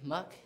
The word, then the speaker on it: Muck: My name is Muck. Muck. You know what muck rhymes with, don't you? Duck.